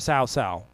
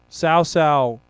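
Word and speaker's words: Cao Cao: this uh young uh officer named sausal sao sao whoops that ass sounds like a sauce yeah well it's spelled uh c-a-o-c-a-o and you want to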